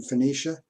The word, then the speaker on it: Phoenicia: They came from Phoenicia, even though you and I pronounce the Phoenicia with a F sound.